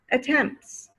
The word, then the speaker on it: attempts: attend school attempt attempt you hear the t again at the end of attempt okay but if you add an s attempts attempts no more t sound i already made three